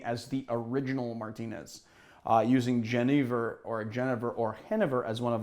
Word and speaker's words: Genever: people I know say Genever, so it's one of those two. Anyway, if I started saying Hennever, people would be like, what are you saying? And I'll say, that's the Dutch pronunciation.